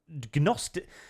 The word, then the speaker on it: Gnosticism: The trans view of true self is like a type of Gnosticism. How do you pronounce it? Is that a silent G?